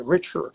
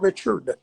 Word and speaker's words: Richer: Okay, Richer. It's not Richard. It's Richer, because I think the short name for Richard is Dick, and of course I do have one, but I am not a Dick.